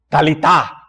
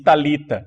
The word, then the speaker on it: talitá: Então a gente diz talita, não, é talitá, mas tudo bem.